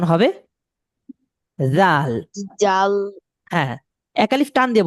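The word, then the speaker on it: ذال: জাল এবং হা উচ্চারণ করার নিয়ম হলো জিহ্বা বের করে দিতে হবে। দুই দাঁতের মাঝ থেকে জিহ্বা বের করে দিয়ে জিহ্বাকে দুই দাঁত দিয়ে চেপে ধরতে হবে।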